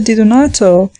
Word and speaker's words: Di Donato: The professor at once pronounced the word more distinctly, Di-do-nato, whereupon the child, without